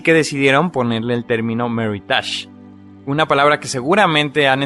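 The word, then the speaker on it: Meritage: la letra m tenemos la palabra medidas o mary touch ésta se escribe m&r y d a g vino veritas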